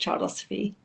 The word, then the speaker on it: Childosophy: two words, obviously child, and osophy comes from wisdom, so the child's wisdom. So that's what Childosophy stands for, really, and it's honouring the child's wisdom. So I think, that's that, and it's pronounced Childosophy.